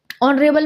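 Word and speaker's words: honorable: ऑनरेबल में S silent है। Vowel sound ओ निकल रहा है तो एन लगेगा।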